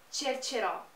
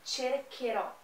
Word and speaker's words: cercherò: se pronunciar vai ser cercerò, e não é o que a gente quer nesse caso. Eu quero o som do K, por isso eu coloco um H no meio, cercherò, tá bom?